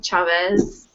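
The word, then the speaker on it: Chávez: Chavez.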